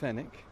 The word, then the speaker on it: Fenwick: up um and uh his name's jolian fenick spelled like the store f n w i c k and what jolian